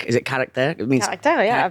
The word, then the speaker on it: Caractère: What I loved is, and what was so unique is, I'm going to butcher the pronunciation. Is it Caractère? It means Caractère, yeah, Caractère.